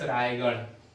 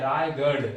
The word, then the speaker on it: रायगढ़: ऐसे आपने सुना होगा फ्रेंड्स रायगढ़, रायगढ़, तो ये वाला ढ नहीं है, ये वाला ढ है रायगढ़, रायगढ़ ये बिंदु वाला।